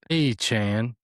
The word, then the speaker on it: Achane: It clarified his last name was pronounced, quote, Achane, like a chain.